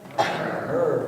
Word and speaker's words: myrrh: Gold, frankincense, and myrrh. Rhymes with burr.